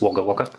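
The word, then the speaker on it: Wagga Wagga: don't know the riverina is is wager waga which has taken me several months to to get the pronunciation right um but I started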